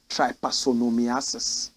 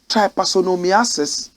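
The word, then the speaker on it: trypanosomiasis: somebody is sick there's a setting sickness called try parsonomiasis repeat after me try parsonomiasis try parsonomiasis what is that watch this tryposomiasis is any tropical disease caused by panosomes I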